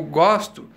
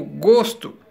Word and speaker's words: gosto: gosto não se discute vocês perceberam que quando eu digo gosto eu estou pronunciado com a vogal a defe eu digo gosto e depois eu digo gosto não o substantivo abstrato eu pronuncio com a vogal ou fechada eu não digo gosto